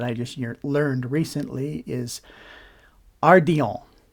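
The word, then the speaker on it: ardillon: just learned recently is Ardon it's spelled a r d i l l o n I'm pretty sure it's French so it would be pronounced Aron um that's that's what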